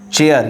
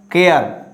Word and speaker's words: chair: Chair. You have to say chair, not care. Chair.